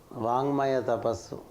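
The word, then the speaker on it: वाङ्मय तपस्: ¿Y cuál es la importancia de pronunciar sonidos sagrados? Yes. Vangmaya tapasu.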